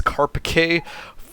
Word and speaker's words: Carpiquet: However, Google tells me that it is Carpiquet, thankfully to its Google Translate abilities.